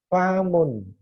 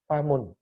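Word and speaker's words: فم: Saat kita nanti katakanlah saya mendiktekan famun, akan salah. Karena yang tulis nanti akan ditulis fa alif mim. Padahal yang artinya mulut itu cukup fa dan mim. Famun.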